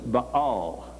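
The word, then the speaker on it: Baal: was but all yeah this is the name Bale as the way we normally pronounce it but to them it was ball but all was the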